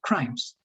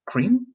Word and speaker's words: crimes: Crimes, only crimes. Sometimes I heard it sound like cream, but not crimes, right? Crimes.